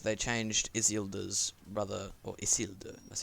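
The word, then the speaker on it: Isildur: of stupid to gender swap like they changed isilda's brother that's how you pronounce it they changed his brother into his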